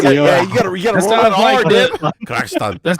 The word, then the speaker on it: Kyrgyzstan: Probably Kyrgyzstan is, but this old man he corrected me in the taxi. He was like, no, Kyrgyzstan.